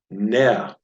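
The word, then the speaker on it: נר: This is pronounced ner. If you try saying that, ner.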